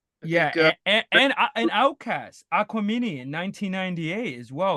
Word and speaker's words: Aquemini: And wait, Devon, how do you pronounce this? Aquemini? Aquemini? Gemini. Aquemini.